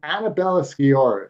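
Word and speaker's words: Annabella Sciorra: her name because it's hard for me to pronounce it sometimes Annabella skor is that right that's right that's perfect thank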